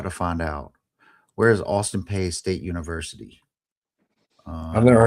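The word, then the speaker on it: Austin Peay: So Wikipedia says it's pronounced P, Austin P. Okay. Austin P.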